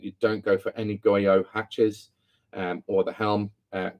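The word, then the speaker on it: Goiot: Mentioned in my previous videos that I suggest that you don't go for any Goyo hatches or the helm. A company called Goyo, it's spelled G-O-I-O-T.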